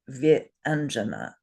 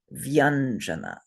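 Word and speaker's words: व्यञ्जन: we can't say it vi anjana. So they put the two syllables together with a different consonant, and they pronounce this word vyanjana.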